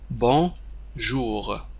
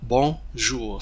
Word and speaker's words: bonjour: هنا كما تشاهدون N لا ينطق، N حرف N لا ينطق. هذه O plus N on c'est on. Bonjour bonjour، c'est pas bonjour. N لا ينطق N، وإنما نقول bonjour bonjour. Ne prononcez pas la lettre N. La lettre N ne doit pas être prononcée.